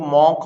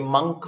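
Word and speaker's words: monk: आप मंक होते हैं, इसको लोग मॉन्क मॉन्क बोल रहे हैं, ये मंक प्रोनाउंसिएशन होता है, याद रखिए, असेटिक होता है।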